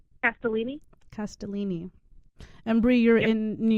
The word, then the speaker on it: Castellini: do you say your last name at Bellini Castellini and Bri you're in New York correct I